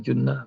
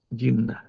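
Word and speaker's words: جُنَّة: Kalau enggak paham bacanya, jadi begini, asumu jinnah. Puasa itu adalah jin. Salah itu. Kalau enggak paham bacaannya, berantakan. Atau kalau asumu jannah, puasa itu surga. Salah juga. Jadi paham dulu baru baca kalau bahasa Arab.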